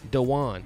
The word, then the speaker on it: Daquan: it yeah the one Diwan Diwan that Q a silent okay a silent Q yeah it's the wine